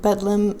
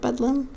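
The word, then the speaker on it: Bedlam: Uh this hospital was in London in the late 1300s and Bedum is basically a distorted or regional English pronunciation of Bethlehem.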